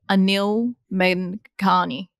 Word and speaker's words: Anil Menghani: I have with me today Anil Menghani. Did I pronounce that right, Anil?